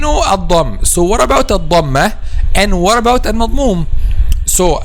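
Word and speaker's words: الضمة: So we have al-Dhamm, okay, which is D-A-M, and we have al-Dhammah with adding M and A at the end. Al-Dhammah. Okay, and the accurate pronunciation is adding H at the end.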